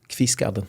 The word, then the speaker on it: Kvistgaarden: How do you pronounce that, Tino? Kvistgaarden.